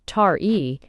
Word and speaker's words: Taee: The child, whose name was Ti, he pronounced Tari, was the magistrate's eldest son.